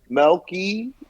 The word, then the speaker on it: Melky: __ ] play yeah yeah y'all played against monkey cabrera yeah and they they destroyed us yeah i